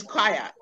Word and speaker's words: choir: at the word choir that word is spelled c h o i r the pronunciation is quiet do you notice any